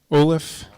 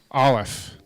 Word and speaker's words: Olive: Olaf. Olive. Like the thing you eat.